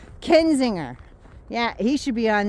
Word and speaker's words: Kinzinger: I said it right. I didn't call him Kissinger. Kinzinger.